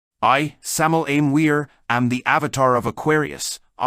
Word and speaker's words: Weor: Word or verb is within weir, which is pronounced veer, so the W is the V sound.